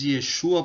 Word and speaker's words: Yeshua: comunidade cotiana no brasil nós usamos yeshua para pronunciar o nome do salvador né por entender que esta é a melhor pronúncia e essa é a